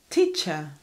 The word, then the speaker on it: teacher: Teacher. Teacher, very good, with the schwa at the end.